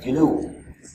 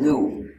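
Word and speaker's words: GNU: système s'appelle Gou et il faut le prononcer comme Gou pas comme nous parce que si tu dis surt en anglais tu peux confondre les gens parce que ce système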